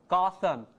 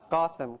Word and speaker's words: Gotham: this okay so now H stresses here becomes sh on stretch syllable Gotham Gotham very important if you say go go nobody's going to understand you goam goam okay so this